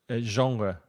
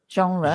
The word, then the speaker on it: genre: from French and so we try as English people to pronounce it in a French way and the pronunciation isre